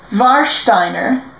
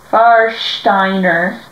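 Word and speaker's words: Warsteiner: this one we have varshsteiner this is a pretty good lager it's really nice it's very fresh tasting um The W would be pronounced with a V so VAR and then it has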